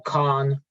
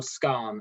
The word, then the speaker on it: skarn: VMS or Khan or something else? Yeah, sorry, I should have said VMS or skarn or something else. Sorry, I was mispronunciation there.